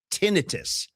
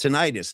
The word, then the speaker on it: tinnitus: Technically, the proper pronunciation for that is tinnitus. Swear to God, but it's mispronounced so often that people just accept tinnitus.